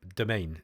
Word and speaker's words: Domain: This is pronounced domain, and if you actually think about how French is pronounced, that actually makes sense.